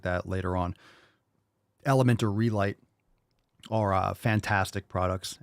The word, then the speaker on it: LMNT: Redmond relight and also element which sounds like the word element but it's lmnt obviously for that same reason